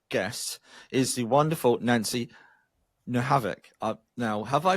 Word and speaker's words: Nohavec: Today my guest is the wonderful Nancy Nohavoc. Now, have I pronounced that properly, Nancy?